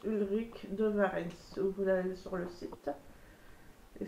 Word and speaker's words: Ulric de Varens: de rue de varenne ça s'écrit comme ça se prononce ulric de varens soleil sur le site